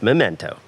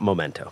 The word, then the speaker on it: Memento: It is pronounced Memento, not Momento.